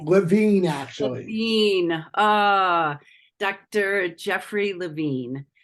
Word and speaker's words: Levine: Did I pronounce that correctly? Levine, actually.